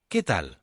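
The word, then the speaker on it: qué tal: which in Spanish isal the first word is pronounced like the English letter k k let's hear how's it going again kalal another way of saying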